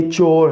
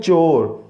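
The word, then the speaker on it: chore: वो क्या कहते हैं, चोर। नो, इट्स अ चो, जस्ट आपने क्या कहना है, चो। आर साउंड जो होता है ना वो साइलेंट होता है, तकरीबन साइलेंट होता है, लास्ट पे अगर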